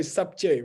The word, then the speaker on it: subject: By the way, subject, right? We pronounce the B.